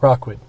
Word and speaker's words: Rockwood: Remember that all of the proceeds from their operations support community programs in Rookwood Park, which is pretty damn cool. Rockwood. I thought I said it right that time. You said Rookwood.